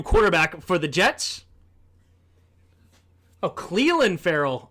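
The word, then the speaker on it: Clelin Ferrell: for the Jets oh Cleland Ferell is how you say not Clen Cleland Ferell didn't know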